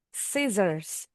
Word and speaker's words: scissors: Huruf C-nya nih sebenarnya silent atau berubah bunyi jadi S karena bunyinya C. C. Bunyinya seperti S nih. Atau C-nya silent enggak ada sama sekali. Scissors.